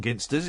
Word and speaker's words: Ginsters: A ginsters. Thank you. It's a hard G on ginsters. It's not. Yeah, it's a hard ginst.